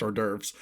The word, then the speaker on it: hors d'oeuvres: Breaking kayfabe, I, Ben Hamlin, would like to say it is pronounced hors d'oeuvres.